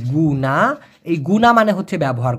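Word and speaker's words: guna: যদিও মালয়েশিয়ান ভাষায় জি ইউ এন এ উচ্চারণটা হবে গুনা।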